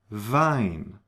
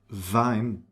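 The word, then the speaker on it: Wien: And here we have a nice combination of vine, v, the German w, and ei. Vine. That's not wean. It's vine. And the combination I E is pronounced like E. It's a long e vinpel z lead.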